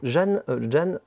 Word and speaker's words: Jan: Jan Bintakis. On dirait quelqu'un de cosmopolite. Mais c'est J-A-N, je sais pas comment on prononce. Bah, c'est Yann, généralement.